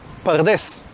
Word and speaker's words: pardés: Lo interesante es que la palabra paraíso, no sé si lo sabías, eh, es una palabra persa que se pronuncia pardés.